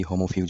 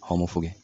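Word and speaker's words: homo fuge: এর আগের ভিডিওতে আমি এটাকে মেবি হোমোফিউজ বলেছিলাম। কিন্তু এটা তো ইংলিশ ওয়ার্ড না। এটা হচ্ছে ল্যাটিন ওয়ার্ড। আর ল্যাটিন প্রোনাউন্সিয়েশনটা হবে হোমোফুগে।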